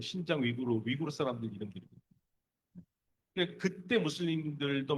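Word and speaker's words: 新疆: 신장이라는 말이 여러분들이 잘 안 하는데 한자로 써놓으면 한자로 써놓고 우리 발음을 읽으면 신강입니다. 신강은 뭐냐면 새로운 신자에다가 영토할 때 강자 있잖아요. 강토할 때. 그거를 우리는 신강이라고 읽고 중국에는 신장이라고 합니다.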